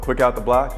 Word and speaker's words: Quick Out the Block: This is Sheena Quick, who, if you don't know her, she's a credentialed media member with what, Quick Out the Block?